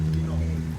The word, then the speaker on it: Dinant: Next boat cruise in Belgium, Dinant. What is the name of this town? Dinant. Dino. Dinant. Okay. Dinant. Deze spreek je niet uit. Dino.